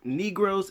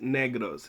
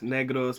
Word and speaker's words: Negros: and inflection in the word it's not actually pronounced negros is pronounced negros negros accidento negros oriento okay four purposes that i